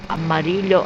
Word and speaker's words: amarillo: The double L in the Spanish word for yellow, amarillo. How they pronounce amarillo, I don't know. It's pronounced as Y.